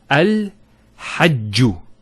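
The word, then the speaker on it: الحج: Also here, al-hajju. It's not al-hajju, it's al-hajju.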